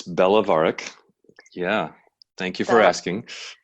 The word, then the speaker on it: Belovarac: It's Belovarac.